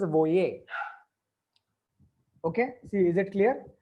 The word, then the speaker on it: voyez: This is pronounced as voyons and this is voyer.